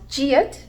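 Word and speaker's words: 지읒: This is called jiat and it's pronounced j.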